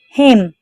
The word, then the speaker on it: hymn: HYMN, him, and is silent here.